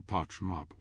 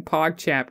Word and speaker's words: PogChamp: I guess you are my little parchmop, Wesley. Parchmop. I guess you are my little parchmop, Wesley. It's not pronouncing PogChamp correctly.